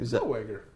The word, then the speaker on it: Zellweger: Zellweger.